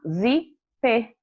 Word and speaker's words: zíper: a palavra zip o zíper contando aí é sílabas e se a gente for falar zíper já tem a dica o assento está na